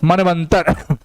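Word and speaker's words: मन्वन्तर: चलो, मनवंतर, ऊ का व बन जाता है, लेकिन जिस पे लगा रहता है ये ऊ का उच्चारण उसको आधा बना देगा। ना पे लगा है ना को आधा बना दिया, आधा व, ये अ इसको पूरा कर दिया और ये म, मनवंतर।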